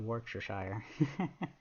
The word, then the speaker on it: Worcestershire: also my head hurts no pronounce Worcester Shore no chess sound Worcestershire that's but why